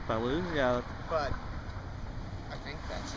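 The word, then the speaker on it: Ballou: do you say Kurt's last name B say Balo Balo yeah but I think that's it how did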